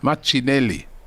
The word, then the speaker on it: Martinelli: Machinelli.